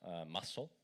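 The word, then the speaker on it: musl: that by adding this configuration flag which it's pronounced muscle I know it's funny um and then yay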